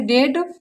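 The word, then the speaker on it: debt: अगर किसी वर्ड में बी टी के पहले आता है तो वहाँ बी साइलेंट होता है।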